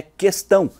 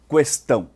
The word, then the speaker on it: questão: e uma questão ambiental a palavra questão mesmo antes do Recente acordo ortográfico nunca teve trema sempre a pronunciamos em articular a vogal u portanto sua pronúncia correta é questão e não questão é que o presidente